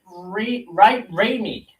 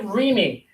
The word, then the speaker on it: Raimi: Ted Raimi. Yeah, I think that's how you say his name. Ted Raimi.